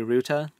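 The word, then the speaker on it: Rute: I don't know if it's like German pronunciation, if that'd be ruta.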